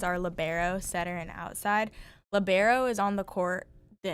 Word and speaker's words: libero: in volleyball is people we we labbero libero. What what is the connect correct pronunciation? I say libero. Lobero. Labbero sounds better. Almost 90% of people that play volleyball say libero.